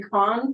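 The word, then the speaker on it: Kaun: email that came from Susan Khan today that's how you pronounce her name k-a-u-n as a former commissioner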